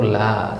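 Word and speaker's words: لا: Kemudian la itu sering kita dengar orang bilang la, ya, seolah-olah ada hamzahnya di belakang, ya. Yang benar itu la sebenarnya. Kalau kita ketemu di Al-Quran bacanya la, ya. Kalau ngomong sehari-hari la nggak apa-apa, orang paham, ya, la. Yang penting tahu nggak ada hamzah di situ.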